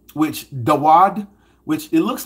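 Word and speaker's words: דוד: So, and that's how King David's name is brought out or pronounced as Dawad.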